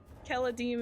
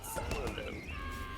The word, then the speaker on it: Keladim: Keladim, it was like Celadim, and it was so bad. Everybody was like, Aubrey's Celadim. Yeah. Like a soft C.